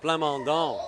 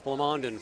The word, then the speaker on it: Plamondon: I'm an ex-Montrealer, so we pronounce that Plamondon, but I think it's Plamondon for Alberta.